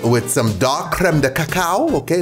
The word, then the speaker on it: cacao: With some dark creme de cacao. Okay, notice the pronunciation. Cacao. You see that? Cow. Okay.